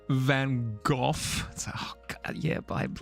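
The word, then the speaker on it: Van Gogh: I think you'll find it's pronounced Van Go.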